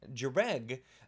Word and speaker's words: Jhereg: In this video, we're actually going to be talking about Jhereg by Stephen Brust, the first book in the Vlad Taltos series, which apparently is how you pronounce all of those things.